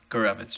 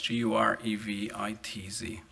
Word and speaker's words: Gavitz: Gavitz. Ge vi TZ.